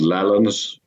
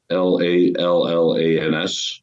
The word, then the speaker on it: Lallans: The old pronunciation and spelling of lowlands was lowlands, lallands. Uh-huh. Actually, the Scottish language history magazine is called Lallans, Lallans.